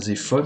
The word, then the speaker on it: Zephon: Mais en ce qui concerne Zéphone, on prononce bien Zéphon dans Survivor et Zéphone dans Survivor 2. Après, ça s'écrit Zéphon, ça se dit Zéphon.